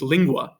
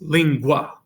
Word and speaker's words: lingua: GU and for instance lingua right that's not three syllables so it's not lingu it's lingua right so the Gua is one sound it's really based off the a not the U if that makes sense